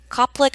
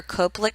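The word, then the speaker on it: Koplik: is going to be the cop lick or cope lick spot so I really like to pronounce them and those are going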